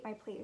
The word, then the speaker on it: plate: So I have my plate is square, your plate might be round. Plate, plate, the silent E that makes the A say its name.